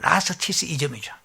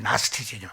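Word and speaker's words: Gnosticism: 그런데 영어 발음하면 나스티시즘이죠. 나스티시즘 발음이 좀 고약한데 나스티시즘, 그노시스, 영지주의라고 해요.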